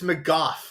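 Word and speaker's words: McGough: my dad watching this it's mof like cough Dam M boy we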